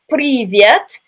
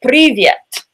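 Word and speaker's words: Привет: as you see here it's pronounced privyet just like in Spanish and probably a lot of other languages that you guys know we have a roll bar that's pronounced like just a little tap at the top of your palate so we pronounce it privyet privyet we also have a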